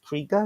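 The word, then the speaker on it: Krige: Is it Alice Krieger? Is that how you pronounce her surname?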